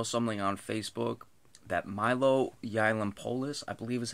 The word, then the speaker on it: Yiannopoulos: Saw something on Facebook that Milo Yiannopoulos, I believe is how you pronounce his last name.